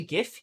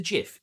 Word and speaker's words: GIF: Is it a GIF? Yes, it is. No, it's a GIF. No one calls it a GIF.